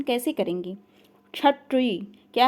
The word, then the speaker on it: क्षत्रिय: क्षत्रिय। क्या है? क्षत्रिय। जब आप कंठ और मूर्धन्य मिला के बोलते हैं तो इसको क्षत्रिय बोलते हैं, क्षत्रिय।